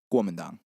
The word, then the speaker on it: Kuomintang: And if you were going to say what those letters stand for, how would you pronounce it? Kuomintang.